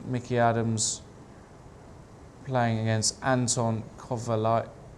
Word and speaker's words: Kovalyov: Mickey Adams playing against Anton Kovalyov. Can you pronounce that? Oh no, Kovalyov, I would say.